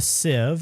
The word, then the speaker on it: sieve: So if we go to the sieve, I know it's got an E in it, but it's pronounced sieve.